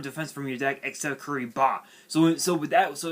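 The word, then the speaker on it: Kuribah: first so first up we have we have curry ba which is spelled k-u-r-i-b-a-h which is a which is a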